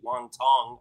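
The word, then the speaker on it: Wang Cong: Last time we saw Cong Wang, a.k.a. Wang Tong, is actually what her name is, but it's spelled that way, which is a little crazy.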